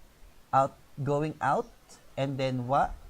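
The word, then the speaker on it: を: As I said earlier, we used to read this letter wo, but since the sound of wo kind of disappeared in modern Japanese, now we simply pronounce this letter o.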